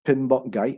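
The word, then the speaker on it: PMBOK: a lot of knowledge inside so his is pronounced pinball guy and so is then for project management body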